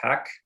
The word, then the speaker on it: HAC: committee which goes by the acronym hac or pronounced hack and this is our